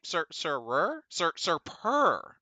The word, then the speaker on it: Sir Purr: "Hey, how you say his name? Sir Purr. Oh, like purr."